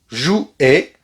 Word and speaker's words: jouaient: Pendant très longtemps, les enfants jouaient. Rappelez-vous bien que AI, c'est et.